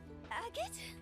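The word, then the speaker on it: Agate: Agot. See, that's how you say that name.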